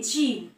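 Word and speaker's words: gym: For example, যদি আমি বলি জিম, জিম মানে আমরা যে জিমে যাই ব্যায়াম করতে, সেই জিম, জি ওয়াই এম, এই ক্ষেত্রে জি এর উচ্চারণ হচ্ছে জিম, জিম।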